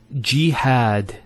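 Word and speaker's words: جهاد: Next word is jihad. So we have here G, that's the first syllable, and then had, jihad.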